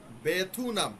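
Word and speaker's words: 베트남: যাবে filly pin ফিল্লিপিন বেথুনাম দেখেন আপনারা বারবার বইয়ের মধ্যে শব্দার্থের মধ্যে লেখা আছে ভিয়েতনাম আপনারা ভিয়েতনাম উচ্চারণ করার চেষ্টা করতেছেন বানানটা খেয়াল করেন বেথুনাম এটা আছে এভাবেই আপনারা এভাবেই উচ্চারণ করেন বেথুনামথুনামগু থাইল্যান্ড বলে থেগু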